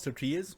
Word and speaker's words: tortilla: This is how you pronounce tortilla. You've been pronouncing it wrong this whole time. You gotta really emphasize the L's darn. in tortilla.